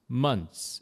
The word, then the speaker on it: months: 이 THS가 츠 비슷하게 months 이렇게 하시면 됩니다.